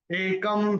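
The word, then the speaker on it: एकं: तीसरा चरण, एकम सांख्यं च योगं च, क्योंकि क के ऊपर अनुस्वार के बाद का अक्षर है स, तो उसका उच्चारण होगा म, और य के ऊपर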